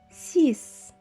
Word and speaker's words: six: chiffre c'est encore une fois sec le chiffre 6 veuillez noter que la literie x à la fin se prononce comme est ce encore une fois 6